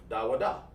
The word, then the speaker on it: da wa da: And you break it down like this. Da wa da.